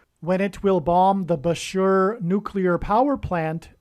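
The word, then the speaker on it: Bushehr: it will bomb the Bashur nuclear power plant and Bashur rhymes with Barker it is predicted that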